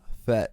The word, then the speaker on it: Jafet: Jafet. Imagine a H instead of a J. So imagine it's spelled H-A-F-E-T. Jafet.